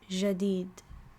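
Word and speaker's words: جديد: I would say jadid, right? But some people in some other parts of the Arabic world might pronounce it as jadid.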